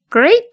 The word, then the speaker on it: great: Great job به معنی کار عالی. کارت عالی بود. به تلفظ great خیلی دقت کنیم. هیچ صدایی بین دو حرف اول وجود نداره.